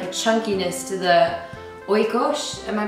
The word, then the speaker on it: Oikos: there's kind of like a chunkiness to the Oikos am I pronouncing that yes um can you just talk